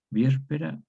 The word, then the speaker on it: víspera: Entonces, el sonido es semejante a la palatal IE. Entonces queda víspera, víspera. Vespam, aquí hay un fenómeno de pseudoamplificación, a vespa, tónica abierta, diptonga.